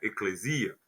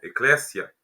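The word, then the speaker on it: ἐκκλησία: Já a palavra grega eclésia, alguns pronunciam como eclesia, outros pronunciam como eclésia.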